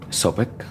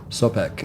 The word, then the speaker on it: Sobek: How do you pronounce it? Sobek. Sobek.